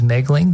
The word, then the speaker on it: Moegling: the last name is megling the O is silent m-o-e-g-l-i-n-g you can find